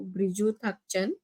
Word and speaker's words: Briju Thangchan: Briju Thangchan. Am I right? Am I pronouncing right, sir?